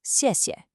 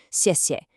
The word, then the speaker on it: 谢谢: The first syllable is a sharp, falling fourth tone. Think of a decisive downward chop with your voice. 谢. The second syllable is what we call a neutral tone. That means it's unstressed, it's short, it's light, so it flows 谢谢.